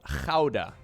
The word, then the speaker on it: Gouda: to expect daguda gouda spelt for correct pronunciation it's called hauda corbin dallas howda i